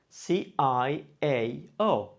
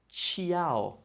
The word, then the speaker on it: ciao: It's spelled C-I-A-O, ciao. Have you ever heard anybody say this word ciao? No, it's ciao. So this combination of sounds, of letters C, I, and A together sounds cha.